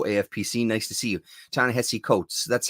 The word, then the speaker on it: Ta-Nehisi Coates: Ta-Nehisi Coates. That's how you say it, right? Coates.